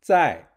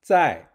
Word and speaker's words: 在: To remember the pronunciation of 在, you can think of the word sign.